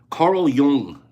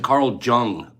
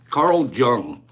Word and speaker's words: Jung: in Carl Jung so took half my life to decide to finally say his name right I always said Carl Jung give me five people that said they always thought that this psychotherapist guy's name was Carl Jung Le I admit it